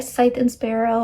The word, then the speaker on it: Scythe and Sparrow: So we're gonna bring Scythe and Sparrow. I've learned that's how you say it. I was saying it wrong.